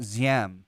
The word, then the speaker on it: Diem: Yeah, I see Diem. Some people I've heard pronounce it Ziem because the D, our transliteration. So Diem, D-I-E-M.